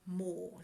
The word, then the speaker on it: Mohr: There's another book called Playing Big by Tara Mohr. So her surname is spelled M-O-H-R.